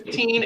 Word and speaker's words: Teen: So my name is Teen. It's short for. Usually that helps people pronounce it.